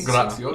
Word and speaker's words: Graziosi: So, and also we did promotional photos recently with Pat Graciosi. Is that how you pronounce? Graziosi. Yeah. Graciosi. Signed PG on Twitter or on YouTube.